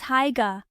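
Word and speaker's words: Haigha: His name is Haiga." He pronounced it so as to rhyme with mayor.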